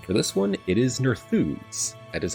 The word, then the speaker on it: Nerþuz: the book and for this one it is nerfoods that is how you pronounce horse again not that surprised so let's